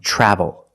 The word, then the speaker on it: travel: When you have TR together in any situation, you can pronounce it ter, but usually we don't. We pronounce it ch plus the R sound, chur.